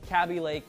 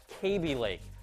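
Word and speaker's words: Kaby Lake: you pointed out that I continue to call Intel's processor line cab Lake instead of pronouncing it correctly as KB Lake and for that yes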